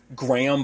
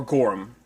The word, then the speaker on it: Gorham: by christopher uh gorham i've always said his last name wrong i guess in my head always auto correct it to like graham but it's growing or gorham i keep doing that um there's a